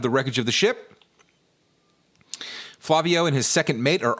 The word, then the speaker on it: Flavio: Flavio tasks Mario with searching the rest of the island. Is it Flavio, do you think? Am I saying it right?